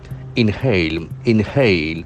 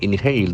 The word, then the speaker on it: inhale: inhaling in hate inhale that a sound is very prominent inhale the accent falls from the second syllable inhale toxic gas toxic